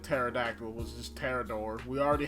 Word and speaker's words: Pterodactyl: And then you have Terrador, because the P is silent. You know, like Pterodactyl was just Terrador.